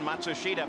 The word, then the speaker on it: Matsushita: emerson fittipaldi comes around matsushita by the way that's the pronunciation that now hero himself has asked all the announcers to use we know it's not the same pronunciation that the family uses or he uses in japan but it's what he wants let's go to gary